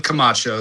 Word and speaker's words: Camacho: So, it's pronounced Kamacho, spelled just like it sounds.